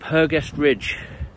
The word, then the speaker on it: Hergest Ridge: Today we're going to have a little walk around the beautiful village of Kington, and I'm going to be going up Hergestridge.